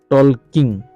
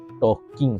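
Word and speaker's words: talking: কঠাপোটা পুটলা উনি বানাইছেন বানাইছেন ট ইয়ে ট টল কিং এনে মনে হব বলে কারণে টল কিং গুলি কই দিব পারা কিন্তু এনে উচ্চারণটা এল উচ্চারণ নয় হ্যাঁ টকিং হবো কিন্তু বানান টু ভুল না লাগিবো ভাবে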